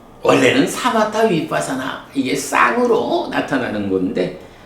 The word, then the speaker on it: 위빳사나: 타 위빠사나 보통은 위빠사나 이렇게 시옷 발음을 안 하는데 어 원어상으로는 빠하고 받침을 발음해 줘야 되죠.